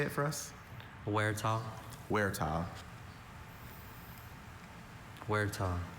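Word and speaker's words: huerta: Werah. Werah. Werah. W E R E T A H where is spelled H U E R T A.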